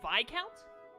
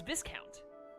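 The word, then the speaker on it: viscount: soon that word's pronounced by count oh really i always thought it was discount yeah i guess the s is silent that's strange or this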